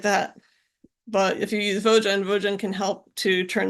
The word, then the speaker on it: Vogen: It is pronounced Vogen, and it's for value objects generator.